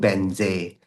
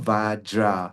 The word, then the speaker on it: Vajra: Either is also okay because I did receive from my teacher Om Benze. So if you recite the thing Om Vajra, so Vajra is a Sanskrit way of pronouncing the thing.